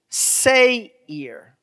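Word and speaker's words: שֵׂעִיר: esau is edom and so how you would pronounce the word in hebrew is say ear say here all right so i want you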